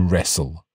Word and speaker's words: wrestle: to point out that in the word wrestle we don't really pronounce the t that's right we almost